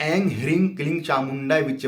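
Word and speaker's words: ॐ ऐं ह्रीं क्लीं चामुण्डायै विच्चे: ओम ऐं, कितने लोग ऐं ह्रीं क्लीं चामुंडाय विच्चे बोलते हैं, वो भी बोल सकते हैं, लेकिन सही उच्चारण जो है ओम ऐं ह्रीं क्लीं चामुंडाय विच्चे, इस मंत्र से जो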